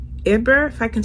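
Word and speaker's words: Hébert: his name is gabe eber edber if i can say it right h-e-b-e-r-t but you should pronounce it in the french way gabe eber his father is dead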